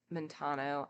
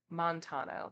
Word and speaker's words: Montano: they plan they being monano I am definitely saying his name wrong aren't I as soon as I like look away from the page I have no idea what people's names are Montano there we go Montano's plan is